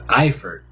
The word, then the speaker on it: Eifert: Pronounce Tyler Eford. Oh, that little girl. It's Eifert.